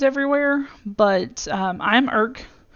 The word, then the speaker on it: Erc: And that one, as you'll see, not that I have different names everywhere, but I'm Irk. If you wondered how to pronounce it, yes, it's ERC. It's Irk.